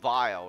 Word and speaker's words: Weil: you pan pronounce it it starts with a V which is a vile or vile or something